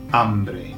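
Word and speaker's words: hambre: all the way through all of the words that begin with H in Spanish do not have the H pronounced.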